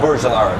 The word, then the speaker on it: Burj Al Arab: Yeah, the Burj Al Arab.